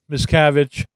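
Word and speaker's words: Miscavige: no well I think I think like miscarriage yeah miscarriage miscavage miscarriage mavage there's a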